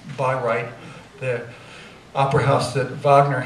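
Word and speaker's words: Bayreuth: changed this is a I guess it's pronounced by right the opera house that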